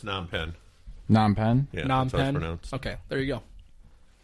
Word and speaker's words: Phnom Penh: Penhen? Oh, it's Phnom Penh. Phnom Penh. Yeah, Phnom that's how it's Penh?